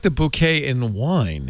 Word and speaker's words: bokeh: Bokeh. In Japanese, the word is properly pronounced bouquet.